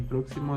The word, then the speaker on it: próximo: Música en la U, América la E y próximo la U en la primera O. Como siguiente punto, palabras sobre esdrújulas. La sílaba tónica antes de la antepenúltima siempre lleva tilde.